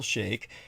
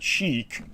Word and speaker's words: Sheikh: Look up in the dictionary how to spell Sheikh, and that will be Sheikh. And you actually pronounce it as Sheikh, not Chic, like CHIC, the fashion statement, as well.